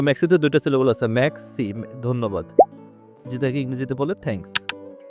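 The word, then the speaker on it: moi: যেমন ম্যাক্সিকে বাংলা যেটা হয় হচ্ছে কি দুইটা সিলেবল হয়, ম্যাখ একটা আর সি হচ্ছে দুইটা, তার প্রিন্স ম্যাক্সি দুইটা। ম্যাক্সি মানে ধন্যবাদ। সো ম্যাক্সিতে দুইটা সিলেবল আছে, ম্যাক্সি ধন্যবাদ, যেটাকে ইংরেজিতে বলে থ্যাঙ্কস।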